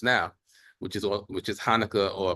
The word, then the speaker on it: Hanukkah: be discussing just now which is which is Hanukah or pronounced as kanuka kanuka in um Hebrew which means dedication so these